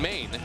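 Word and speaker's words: Mayne: Tony Pena then goes with Raul Ibanez, Ken Harvey, Desi Relaford, Angel Baroa, and Brent Main, which rhymes with rain.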